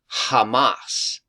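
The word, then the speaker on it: חמס: Hebrew word h 2555 and it literally is pronounced Hamas so I just wanted to point that out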